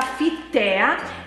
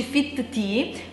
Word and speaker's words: Fittea: Penso che si pronunci Fit Tea, però comunque il sito, cioè se volete andare sul sito, si chiama Fittea, proprio scritto così, Fittea con due t.it, e là si possono comprare queste cose. Comunque si pronuncia Fit Tea ed è buonissimo, praticamente